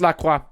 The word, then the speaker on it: La Croix: of la croix and it's pronounced la croix from the law guys p.s my gender is